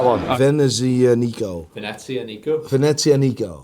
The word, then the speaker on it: Venezianico: Venezia Nico. As in Venice Nico? Yeah, exactly.